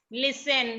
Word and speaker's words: Listen: लिसन। लिसन में जो टी है वो साइलेंट है, उसकी कोई आवाज नहीं है।